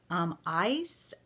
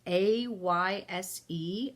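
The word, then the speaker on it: Ayşe: Her name, and I'm probably not going to pronounce this first name right. I'm going to say Ice. It's Ayse, and her last name is Kulin.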